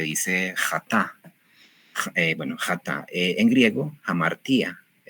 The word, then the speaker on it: hamartía: Algunas veces lo van a escuchar amartía porque, bueno, son la pronunciación que yo sigo y que trato de llevar es una pronunciación más antigua y hay una moderna, un griego moderno.